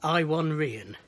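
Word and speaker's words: Iwan Rheon: Rian's or I won I believe the correct pronunciation is I won rien his iwi n his Christian name and his RA gon to me IWA n is Ivan he's Welsh but I believe he his his pronunciation is I won or something like that so apologies if I'm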